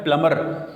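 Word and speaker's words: plumber: है वह समय है प्लंबर इसमें बीच साइलेंट है इसको प्लंबर नहीं करेंगे इसको बॉईल कहेंगे प्लंबर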